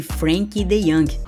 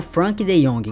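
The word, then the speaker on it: Frenkie de Jong: entrar na lista chama-se Frank dey ou Frank de Jong como você quiser chamar vamos chamar de Frank dey mesmo tá que é a pronúncia holandesa o dey tem a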